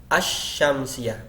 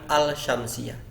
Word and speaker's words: as-syamsiyah: enaknya membedakan seperti itu secara bacaan al-qamariyah as-syamsiyah bukan al-syamsiyah kalau kita mau melatih